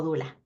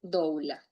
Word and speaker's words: doula: Doula, la palabra doula, por cierto, se puede pronunciar de dos maneras, o sea, ella se escribe douula y se puede decir dula. Sí, así, dula o douula, pero se escribe douula.